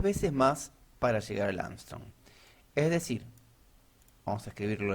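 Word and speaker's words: Ångström: Y se llama Angstrom. Suena de una manera parecida a un famoso astronauta que fue a la Luna, pero no se escribe igual.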